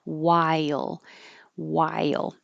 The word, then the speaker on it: while: there's an H there the H is not pronounced at all we just skip it in the past yes